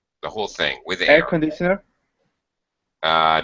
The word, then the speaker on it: air conditioner: air conditioner air conditioner so this primary stress instead of being a high pitch here okay this is going to be a very low pitch air conditioner you hear the difference oh conditioner air conditioner